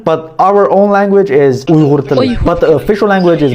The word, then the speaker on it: Uyghur: myself to a black dude and I said Uyghur. I know where this is going. Is there a better pronunciation of it? Uyghur.